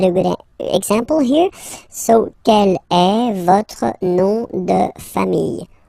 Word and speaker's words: quelle: And then the feminine form is written like that, Quellelle, but it's pronounced like the masculine form. Quel at the masculine, quel at the feminine. Okay, so it's basically same pronunciation.